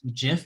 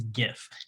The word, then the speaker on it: GIF: i don't know well from the 23 second gif thing that we solved yeah this is the most offensive part of the video leave your opinions in the comments below but it is not jif it is gif jif is a peanut butter so well hey